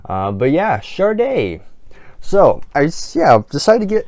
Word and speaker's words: Sade: And I know it's pronounced Sade because it literally tells you on the spine right there, if you can see, but it actually tells you how to pronounce it.